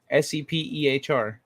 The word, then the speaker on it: Sepehr: Yeah, he says it with a P. Sepehr.